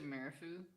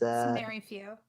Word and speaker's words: Marifu: Can I sit down next to Marifu? Is that their name? I'm bad at pronouncing names. It's Mary Few.